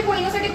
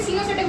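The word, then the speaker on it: coenocytic: सीनो की एस से नहीं है स्पेलिंग, सी से। इसको कोई कोइनोसिटिक बोलता है, कोई सिनोसिटिक बोलता है, तो जो तुम्हारा प्रोनाउंसिएशन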